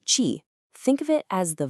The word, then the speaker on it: qi: Now this whole clock is built around the idea ofqi that's spelled qi pronouncedqq chi.